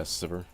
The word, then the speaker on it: Sivir: Yeah, Sivir. That's how I pronounce Sivir.